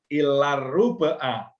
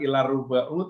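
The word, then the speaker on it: إلا الربعَ: As-sa'atus salisatu ilar ruba'a. Ilah harfu nasbin, jadi bukan ilar ruba'u tapi a. Harokatnya fathah. Ilar ruba'a.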